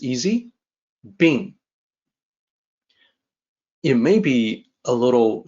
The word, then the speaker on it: 病: The pronunciation is like this, it's easy, Bìng.